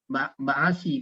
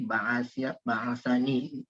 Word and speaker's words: ba'asani: Ya, kalau tidak ada nun ini maka dibaca ba'asa itu nggak mungkin. Ba'asi pasti terbacanya. Maka dilindungi jadi ba'asani.